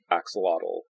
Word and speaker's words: axolotl: probably butchering, but who gave a pronunciation guide of how to say axolotl, namely axolot.